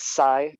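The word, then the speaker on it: psience: And then I also started a subreddit, and it's science, new science, and the science is spelled P-S-I-E-N-C-E. And that's psi, and I've kind of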